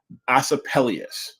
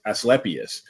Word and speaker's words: Asclepius: the Greek mythical feature and I hope I'm pronouncing this right acapellius us or us as lepius actually as lepius who was the son of the sun god